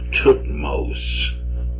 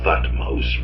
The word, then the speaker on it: Thutmose: Because Moses is the same root we find in various pharaoh names, like Tutmos, or spelled as if it were to be said Thutmose, but it'd be Tutmos.